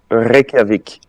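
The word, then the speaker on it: Reykjavík: How do you pronounce it? It's Reykjavik.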